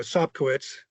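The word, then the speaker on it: Sobkowicz: And then the next thing you know, Sopkowitz is how you pronounce it, had hauled in his 17th TD pass of the year.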